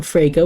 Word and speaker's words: Frege: Bayleaf, please escort Miriam Frege, which rhymes with Sega, to the stand.